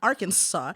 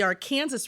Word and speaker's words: Aransas: geographically some people say Aransas AR they say it fast like Aransas so there then is the Aransas River it's not Aransas it's not Arkansas it's the Aransas River and I never understood